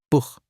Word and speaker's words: Buch: After A, O, or U, it's a throat H, like clearing your throat softly. Buch, that means book.